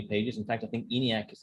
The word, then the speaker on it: ENIAC: In fact, I think ENIAC is like 30, 34 pages. Oh, wow. That's how you pronounce it. The whole time, ENIAC. I'm like, how do I say this? Brainiac.